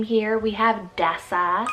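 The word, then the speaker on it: Dessa: energy second to last name here we have desa spelt d-e-s-s-a desa this one means wandering or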